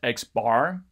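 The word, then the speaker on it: x̄: This symbol X with a bar over it is pronounced X bar in stats, which is a little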